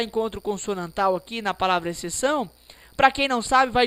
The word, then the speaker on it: exceção: eu pronuncio a palavra exceção eu pronuncio e eu pronuncio c são o x não é pronunciado pessoas o x não